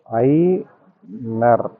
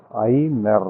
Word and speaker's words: Aigner: இதுல என்ன விஷயம் அப்படின்னா இந்த ஜி வந்து சைலன்ட் ஜி வந்து உச்சரிப்புல வராது. இது ப்ரோநௌன்ஸ் பண்ணும்போது நான் பண்ண ஐக்னர்ல வந்து இந்த ஜி கிடையாது. அப்போ ஐ நர் அவ்வளோதான் வரும்.